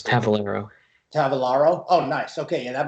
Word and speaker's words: Tavolaro: guests here sid and actually i always say tavarlo but how do you say your last name uh it's tavelingro tavalaro oh nice okay yeah that makes more sense